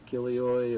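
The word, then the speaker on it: χίλιοι: is chilioi or chileoi it depends on how you want to pronounce it i i prefer to say chilioi but others would say no you're wrong it's kilioi or i'm no greek scholar but i just like to say chileoy so just kind of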